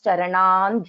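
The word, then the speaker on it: चरणं: So I pronounce Charanan Dhyayet.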